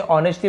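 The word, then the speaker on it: honestly: To live रहने के लिए, ऑनेस्टली, अब यहाँ पे आपको पता है एच यहाँ पे साइलेंट होता है, ठीक है। ऐसे ऑनेस्टली बस पढ़ते हैं, लेकिन लिखते समय हमें एच को लिखना पड़ेगा।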